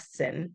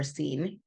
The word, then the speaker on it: Sin: set out from the desert of sin or scen san is how it spelled like sin and traveling from place